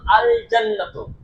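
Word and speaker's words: الجنة: আর কিন্তু যখন আল জান্নাত শব্দটি লিখছি তখন দেখতে পাচ্ছি আল জান্নাত লামটা উচ্চারণ হচ্ছে।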